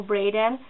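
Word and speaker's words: Braeden: hope it pronounces well Brayden is spelled b-r-e-b-r-a-e-d-e-n preheated o Braden and he was born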